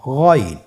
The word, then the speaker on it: গইন: আইনের আকৃতিতে আরেকটি হরফ, সেটার নাম হলো গইন। আইনের উপরে একটা নোক্তা বসিয়ে দিলে গইন হরফটি হয়ে যাচ্ছে। তাহলে গইন হরফটিও উচ্চারণ করা খুবই সহজ।